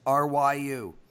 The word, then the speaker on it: Ryu: best pitcher in baseball Ryu that's how you pronounce it Ryu twelve-and-a-half is the total